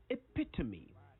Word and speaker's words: epitome: to focus on today e p i t o m e epitome not epitome the e at the end is not silent so make sure all four syllables of the word are heard loud and clear me it means the